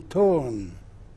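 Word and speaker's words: Toruń: and the last she was seen was in Torun. Where's this at? A city in Poland. It's spelled T-O-R-U-N, Torun.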